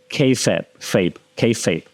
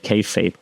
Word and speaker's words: kayfabe: There's this term called kayfabe, right? You spell it Kayfabe, kayfabe.